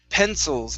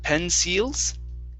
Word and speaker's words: pencils: needed very good uh this word here is pencils instead of pen seals okay use a short eye pencils pencils okay